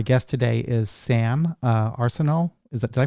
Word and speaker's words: Arsenault: kinds and my guest today is sam uh arsenal is that did i pronounce that right wilson yep yep okay sam arsenal wilson and she is the co-founder and chief